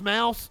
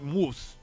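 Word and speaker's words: Maus: contained swear words and a naked illustration it's pronounced mouse okay i didn't know if it had like a german like moose graphic novel mouse a survivor's tale depicts how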